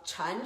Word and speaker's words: Chan: However, I should say Zen and Chan school. Zen school is a pronunciation from Japanese, and then Chan school is pronunciation from Chinese.